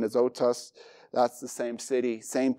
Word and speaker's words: Azotus: It would be the pronunciation Azotus.